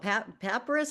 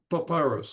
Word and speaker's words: papyrus: Paparus. How do you pronounce it, Jim? Wasn't papyrus.